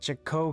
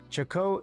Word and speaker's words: Chaco: Pronounced like Choco, like chocolate. Okay.